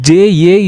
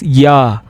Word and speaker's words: ja: Even though there is J-A is there, we will not call it as ja. We call it as ya.